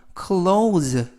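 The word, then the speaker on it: clothes: new close 새로운 옷으로 이때 발음에 유의하실 것은 close close thes가 동시에 발음이 돼서 의미는 옷이라는 뜻이고요 그래서 이때 모두 발음이 5 5 그래서 clows close라고 발음하시면 되겠습니다 전체적 의미는 나는 새 옷으로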